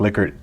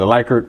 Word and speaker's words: Likert: term the liquid scale they call it likert scale but it's actually pronounced liquor no so it's basically